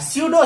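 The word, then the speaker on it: pseudo: इसका पी sir silent होता है, स्यूडो सॉलिड, इसको बोलते हैं सर आभासी ठोस, आभासी ठोस, या इसी को बोलते हैं सर सुपर कूल्ड लिक्विड।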